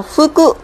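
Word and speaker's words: 服: Và nó cũng chỉ có một cách đọc duy nhất là phư cự.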